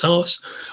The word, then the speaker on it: Haas: And Jeffrey Haas, whose name I think is pronounced Haas. Now that I'm saying it, I'm realizing I'm actually saying his name out loud for the first time, but it's written H-A-A-S.